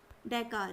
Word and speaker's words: डकार: डैकार है। डैकार है, और इसको प्रोनाउंस डकार भी कहते हैं, कई तरह से प्रोनाउंस किया जाता है।